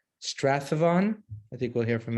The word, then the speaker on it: Strathaven: Okay, Strathaven. Got it. Just think Shakespeare, Stratford on the, that kind of thing. Okay, and I'm from New Haven, so somewhere in the middle we got Strathaven. Jewish Life Center in Sandton, South Africa.